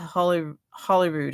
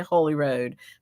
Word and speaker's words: Holyrood: I want to say Holy Road because that's what it means. So Holyrood is an old pronunciation of Holy Road.